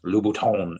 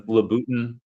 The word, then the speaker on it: Louboutin: pronunciations, because before you, I was pronouncing Louboutin as like Louboutin, and So it's Louis Vuitton.